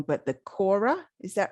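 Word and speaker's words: kora: play i might say this wrong but the quora is that right that is how you pronounce it i don't play the quora i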